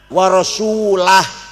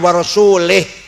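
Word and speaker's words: وَرَسُولُهُ: Bacanya wa rasulah, jangan wa rasulih.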